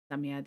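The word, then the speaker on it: Psammead: Samiad is pronounced Samiad.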